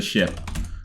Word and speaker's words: ship: Uh not not the animal, but the sheep on the on the I mean big boat. That is not a sheep. It's a ship.